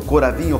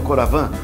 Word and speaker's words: Coravin: vinho através desse equipamento coravinho coravan conforme a pronúncia francesa ou americana é isso não é